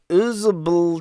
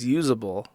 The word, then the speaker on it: uzbl: It is literally UZBL. Okay. I guess it's pronounced usable.